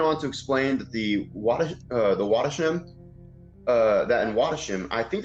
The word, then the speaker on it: Wattisham: He went on to explain that the Wattisham, that in Wattisham, I think that's how you say that. I'm getting really stumped out of this word. Cece, can you help me out? It's Wattisham.